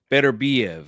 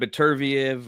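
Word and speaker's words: Beterbiev: so that that is the correct pronunciation of better beev right it's not betv or you know we've yeah it's been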